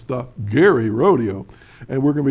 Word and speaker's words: Gerry: see the name actually, Gerry, do not go there and say, oh, this is a nice place, Gerry. It's Gerry.